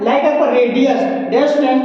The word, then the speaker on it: radii: इसमें ध्यान दीजिएगा, कभी भी आपका डबल लेटर आता है हम उसको डबल प्रोनाउंस नहीं करते हैं, हम उसको सिंगल प्रोनाउंस करते हैं, लाइक आपका आई। सो ध्यान दीजिएगा, आपका रेडी, रेडी, RADII।